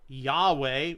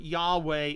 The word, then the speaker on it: Yahweh: academic community the form yahweh is the preferred form and this one has to say the pronunciation of yhw H that's yet evolved a as Yahweh is a scholarly guess Hebrew biblical manuscripts were